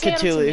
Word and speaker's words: Cthulhu: His name is pronounced as Cthulhu.